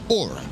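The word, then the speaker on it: Oura: have a smart ring which is spelled o u r a which under normal circumstances you would call Aura however um LT they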